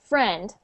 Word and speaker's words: friend: you were saying it you were saying like a little sound after like friend friend but we just say it like friend and it ends at the friend okay try that friend